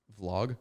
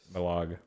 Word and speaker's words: vlog: yeah just I like I like how you pronounce that word is all Vlog yeah because you kind of have a vlog it's kind of vog cuz I'm trying to say v v the V you got that vog well I lost my accent since uh Coming to America so it's just it's harder to pronounce it in English vog the V sound yeah vog I'm gonna